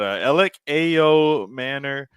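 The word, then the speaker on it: Elic Ayomanor: But Alec Ayo Manor. Is how I'm pronouncing it.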